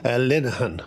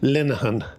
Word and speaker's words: Linehan: Linehan, with the soft I. I always ask. Say that again. Linehan.